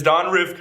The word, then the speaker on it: Ryvcko: So before you were Don Ryvcko, and it is Don Ryvcko, right?